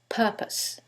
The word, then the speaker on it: purpose: However, in the first one, it's the second syllable that's stressed, and in the second one, it's the first syllable, and that changes the pronunciation completely. The first word is propose, and the second word is purpose.